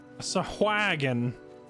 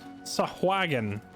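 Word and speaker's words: Sahuagin: It was awagon. Well, now we know how to pronounce it. It's sahagon.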